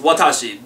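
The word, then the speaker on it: 私: for me and or I um um it's pronounced Watashi there are other pronunciations but so far we've only learned Watashi here we go stroke order this is going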